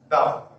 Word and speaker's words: the: तो इसके पहले हम जो दा लगाएंगे, दा एलिफेंट नहीं पढ़ेंगे, दी एलिफेंट पढ़ेंगे। दा पढ़ेंगे तो उच्चारण आपका गलत है।